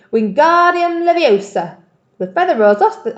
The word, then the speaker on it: Wingardium Leviosa: much more look when Guardium Leviosa he shouted waving his long arms like a windmill you're saying it wrong Harry heard about his tap its Wingardium Leviosa you make the GAR nice and long you do it then